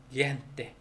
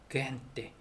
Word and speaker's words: gente: 그래서 예를 들어서 gente, gente 그냥 gen, 그헨, 그헨이라고 생각하고 gente, gente 기억도 아닌 것이 히읗도 아닌 것이 gente.